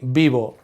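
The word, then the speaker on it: vivo: verb to live beir notice that it's spelled with a V but we don't say VI in Spanish we pronounce Vis like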